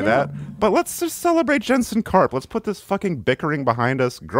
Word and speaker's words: Jensen Karp: well first of all it's not Jetson carp it's Jensen carp which I already said